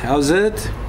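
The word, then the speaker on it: howzit: I greeted you with "How's it?" Now that's a typical South African lingo, which is obviously a imitation of "How is it?" Although we spell it then H-O-W-Z-I-T.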